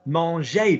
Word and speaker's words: manger: Manger. The infinitive. Look at the infinitive. M-A-N-G-E-R. Manger. ER goes up.